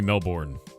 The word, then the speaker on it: Melbourne: In In English that' be Melbourne. B O U R N E is born.